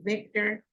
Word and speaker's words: VICTR: When you say Victor, it's spelled V-I-C-T-R. P-R. Yeah, not Victor.